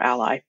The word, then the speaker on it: A11Y: The number 11 in the middle of that is the 11 missing letters between the letters A and Y, and it's often pronounced alley or ally.